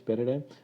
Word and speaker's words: paradigm: Paradigm is in this one thing you need to remember, that in this paradigm this particular G, okay, this G is silent. Okay, we don't pronounce this G, this is slash.